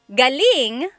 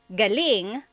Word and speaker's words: galing: So, galing the emphasis is on the first syllable that means coming from. David Jr. on Instagram just asked the same question, too. Galing means good or great. So if the emphasis is on the second syllable, galing that means good or great or excellent.